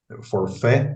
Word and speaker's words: forfait: Isso aí é chamado de operação de forfeit, forfait, vamos dizer assim, a pronúncia, ou então risco sacado.